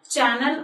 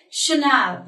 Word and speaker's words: Chanel: on Scotty I'm pronounced with a Chanel not channel or channel no we pronounced it Chanel that's the right format of pronouncing this word